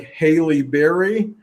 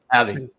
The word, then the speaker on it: Halle: Haley, like Haley Berry. Got it. Unless I pronounce both names wrong. And Halle Berry. she Is it Hallie or Haley? Halle Berry. Hallie. Okay. Hallie.